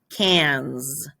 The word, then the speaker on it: cinq: So cinq, but saying this one, it doesn't sound like what it looks like. Cans.